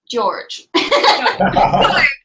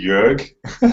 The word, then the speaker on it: Jörg: So the correct pronunciation is actually Jörg, but good try. It's written like Jorge almost.